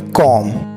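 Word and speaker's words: comb: हैं गंगा करना तो यहां पर 20 साइलेंट होता है बी को नहीं प्रोनाउंस करते तो हम पढ़ेंगे कॉम क्या पढ़ेंगे कॉम आई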